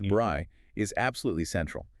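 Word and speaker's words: braai: The bri, pronounced bri, is absolutely central.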